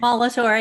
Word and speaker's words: Molitor: Did I pronounce that correctly? Molitor, yeah, close enough.